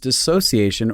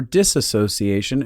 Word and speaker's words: dissociation: Also, for all of you who don't know, it can be pronounced dissociation or disassociation, and those are both correct terms.